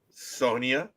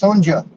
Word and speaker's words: Sonja: Sonia. No, it's Sonja.